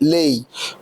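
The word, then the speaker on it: Lei: فحضرتك دي في الايطاليه بتتنطق لي.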